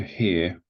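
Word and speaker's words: 河: So again, this is pronounced he.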